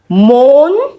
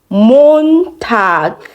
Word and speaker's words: Montag: Montag. Montag.